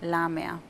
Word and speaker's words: Lamia: Why am I trying to put the H in there? Because I thought... Usually, it happens to me quite a lot when I go abroad. Happens quite often, yeah. But you don't pronounce that, right? No. Okay.